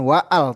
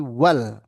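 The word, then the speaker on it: وال: Nah, di sini kalau ada awalannya wa dibacanya bukan waal tapi wal mudarrisu waqifun ya.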